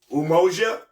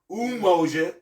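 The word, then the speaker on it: umoja: go back to you know to the principles umoa umoa and the spell u m o j a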